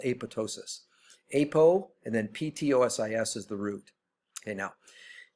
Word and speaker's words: ptosis: Okay, now, Ptosis, same thing. The P is silent, so it's ptosis, not ptosis.